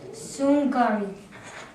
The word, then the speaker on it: Sungari: So this two word how you pronounce it is Liao, and the other word is Sungari. Oh, Liao and Sangari, yeah? Did I pronounce it right, Phillips?